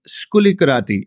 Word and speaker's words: Skoulikariti: exotic you know so there is nasia and skuli karati is that a correct way I'm pronouncing your names that's very good that's very